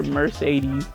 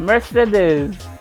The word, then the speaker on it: Mercedes: I was calling her Mercedes, like the damn car. But Mercedes, that's how everybody else pronounces her name, so that's how I pronounce it.